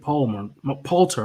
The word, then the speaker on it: Poulter: Poulter.